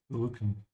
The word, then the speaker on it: Rücken: Pronounce the umlaut, yeah? So purse your lips and push your tongue forward. Rücken.